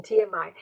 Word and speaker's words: TMI: And sometimes people provide too much information, TMI. TMI é outra abreviatura aí, né? E esse é um inicialismo, porque eu falo TMI, eu pronuncio cada uma das letras, né?